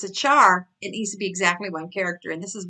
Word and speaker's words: char: error let's look at c-h-a-r now you may hear pronounced care it's short for care and character but programmers pronounced it char and Java is going